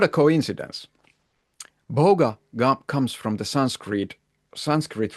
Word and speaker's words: bhoga: Um, experience on the other hand is uh called in Sanskrit bogga. Funny how that rhymes with yoga, right? Uh, and this is not a coincidence. Boga comes from the Sanskrit Sanskrit root bj which means enjoying, partaking or experiencing.